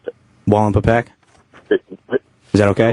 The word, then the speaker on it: Wallenpaupack: It's Wall and Pawpack. Okay. Thank Not you. the way you said it, Adrian. Yeah, sorry. Yeah. I can't even repronounce how the hell you pronounced it. Wallenpaupack?